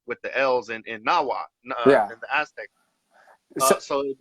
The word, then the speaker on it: Nahuatl: So I'm just not going to pronounce the L.